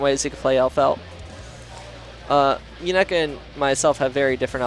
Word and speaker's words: Muñeca: Yeah, Muñeca.